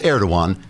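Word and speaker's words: Erdoğan: Merkel recently bowed to air to one's request that a German comedian be prosecuted for insulting the turkish President personally I'd have told air21 to add stuffed the gia silent trigger warning I'm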